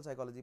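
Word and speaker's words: psychology: many branches हम social साइकोलॉजी पर ज्यादा ध्यान देंगे राइट सो जब हम बात कर रहे हैं सोशल साइकोलॉजी की साइकोलॉजी को मैं केवल साई लिखूंगा यर पी इ साइलेंट राइट परप सा साइकोलॉजी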